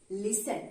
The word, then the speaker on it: listen: right in this spelling though there is a t in the spelling in the pronunciation there is only listen okay the next time